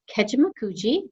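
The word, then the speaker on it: Kejimkujik: and also in this region we have our kejimakuji that is how you pronounce that word i know it's a struggle if you don't know um keshimakuji national park it's one of two of our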